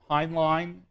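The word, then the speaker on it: Hoenlein: the panel on terrorism the first is Malcolm Heinlein is his name how you say it h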